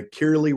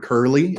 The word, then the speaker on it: Kirley: property is bounded by kirley Road and uh my understanding is that that's how it's pronounced I've heard curlyy as well but believe it's kirle and newent Avenue and